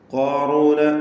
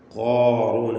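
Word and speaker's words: قارون: ഇന്ന ഖാറൂന, ഖാറൂന എന്ന് പറയുമ്പോൾ ഖാഫിന് തഫ്ഖീമാണ്, ഇസ്തിഅലാന്റെ അക്ഷരമാണ്, എല്ലാവർക്കും അറിയാവുന്ന കാര്യമാണ്. എന്നാൽ അതിനെ ദീർഘിപ്പിക്കുന്ന അലിഫിലും തഫ്ഖീം നിലനിർത്തണം. ഖാഫ് ഖുവ്വത്തിൻ്റെ സിഫത്തുകളുള്ള കടുപ്പമുള്ള ഒരക്ഷരമാണ് ഖാഫ്. നാവിൻ്റെ അങ്ങേ അറ്റം ആണ് ഖാഫിൻ്റെ മഖ്റജ്, അഖ്സൽ ലിസാൻ. ഖാറൂന, ഖാറൂന, അത് കാഫിലേക്ക് അടുത്ത് പോകരുത്.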